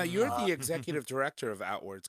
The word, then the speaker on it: Outwords: We've captured 133 interviews, and I should mention out loud, of course, that the project behind the book is called Outwards, and that's spelled OUTWORDS, Outwards.